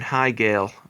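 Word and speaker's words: Heigl: couple stars um oh what's her name Katherine haale is how as you say her name you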